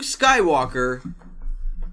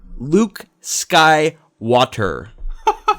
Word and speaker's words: Skywalker: Called Luke Skywalker. Luke Sky Water.